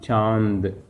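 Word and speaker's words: चाँद: Cha, the symbol is there. So you should pronounce cha. You should release your air through nose. Cha. Then in sound. Because the next letter is the. So the sound is in. Chand.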